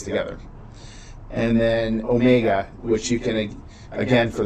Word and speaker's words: omega: And then omega you can pronounce as just O.